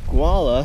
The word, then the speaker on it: Gualala: I won't have to go into Gualala, I think that's how you say it, today. Just go to the campsite. Oh, I see, it's Gualala. Gualala.